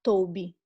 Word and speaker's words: tob: No original, no hebraico, é a palavra tob. Se escreve T-O-W-B.